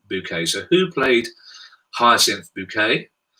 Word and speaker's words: Bucket: up appearances of course then they was spelt buckets but she pronounced it hyacinth bouquet so who played hyacinth